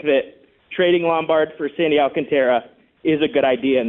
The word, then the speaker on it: Alcantara: I'm saying that if you call Miami and say, we want Sandy Alcantara, and by the way, it's spelled Tara, and everybody says Sandy Alcantara. It's really Alcantara, but I'm not blaming people.